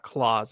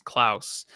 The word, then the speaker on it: Klaus: Actually, there's a Disney movie called Klaus, I believe it's pronounced, not Claus, it's Klaus.